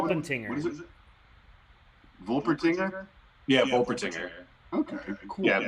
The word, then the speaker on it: Wolpertinger: Volpertinger? Yeah, Wolpertinger. Okay, cool. Yeah, with a W, so like the German pronunciation would be Vol, but with a Wolpertinger.